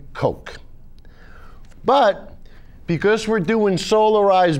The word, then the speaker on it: Koch: in the world and they pronounced their name coke but because we're doing